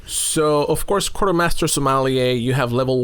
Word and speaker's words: sommelier: So you are a sommelier. Did I say it right? Sommelier? That is correct.